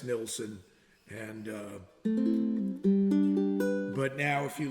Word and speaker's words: Nilsson: It's spelled Nilsson. So I don't know how you get Nielsen out of that, but there are still a huge preponderance of people who call him Harry Nilsson, and there's no E in it.